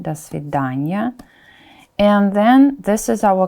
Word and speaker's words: до свидания: Look, we pronounce it together. It's a preposition plus noun, да, because of the reduction, до свидания.